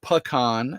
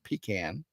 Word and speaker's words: pecan: That's called pronounced pecan and not pecan.